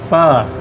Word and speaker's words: Pho: Tell us how to say it. Pho. Just pho. Just pho. It sounds like a halfway dirty word, but that's yeah, it.